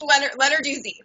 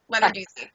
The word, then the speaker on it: Lenarduzzi: I'm joined by social media strategist, YouTuber, broadcaster, Sunny Lenarduzzi. You got to help me with that. I just butchered your last name. It's Lenarduzzi. Lenarduzzi.